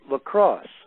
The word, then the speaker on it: LCROSS: out of NASA Ames called La Crosse. and that was an acronym which stands for something, and I don't remember what it stands for at the moment, but it's spelled LCROSS, and it was a